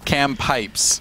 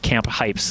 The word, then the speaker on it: Cam Pipes: Cam but like Cameron. Okay. Cam Pipes, okay, is his name. But when you say it, it could also be pronounced Camp Pipes.